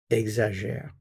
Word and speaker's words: exagère: Il, elle, on, we have our root, and we add the ending, exagère. So we have exagère, exagère, exagère. Same pronunciation of these three.